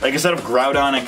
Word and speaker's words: Groudon: I guess I'd have Groudon and Kyogre the proper way to pronounce them they pronounce it rude on and Kyogre e and it's kind of